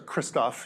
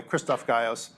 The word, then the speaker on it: Krzysztof Gajos: I began to co-advise Krzysztof Gajos, or Christoph, you may have heard his name that way, Krzysztof Gajos. My wife's Polish, so I know how to actually say his name more or less.